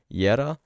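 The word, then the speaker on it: Jera: As you can tell from the name, Yera is spelled J-E-R-A, Yera, but since it is phonetically pronounced as a Y, the author of this inscription is using it as a Y at the end of the word.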